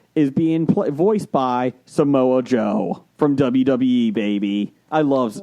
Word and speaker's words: Samoa Joe: being pl voiced by samoa joe from wwe baby i love i love king shark he's in it's pronounced samwa joe my bad because you know hobson